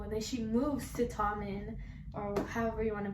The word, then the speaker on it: Tommen: For some reason, I want to say Tomno because of like Louis' nickname, but it's Tommen.